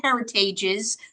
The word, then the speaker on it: Heritage's: that is their last name and you do pronounce it heritages that's the correct way to pronounce it um